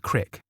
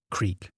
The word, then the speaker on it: Creek: if you live in central Illinois that is pronounced Creek not Creek at that time we lived out in the